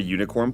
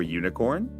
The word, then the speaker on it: unicorn: And the U in unicorn is pronounced as a consonant sound, so we use an A.